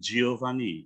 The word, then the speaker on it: Giovanni: Bacanya J, ya. Itu pakai G padahal, bukan Giovanni. Bacanya Giovanni, itu jadi J.